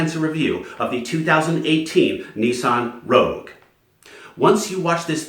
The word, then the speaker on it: Nissan: And by the way, Nissan in Japanese is pronounced Nissan.